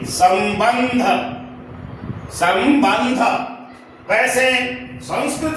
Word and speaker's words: संबंध: तो ब के पर जो अनुस्वार है उसके बाद है क्या? ध। ये ध का उच्चारण स्थान क्या है? तवर्ग है। त थ द ध न। अब स्पष्ट हो गया कि संबंध।